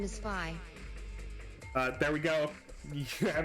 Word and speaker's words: Phi: I didn't actually know if it was pronounced Fee or Phi. It's pronounced Phi. I always said it was Fee. Shit. Oh, it's pronounced Phi because it is Damn it. a letter of a certain alphabet.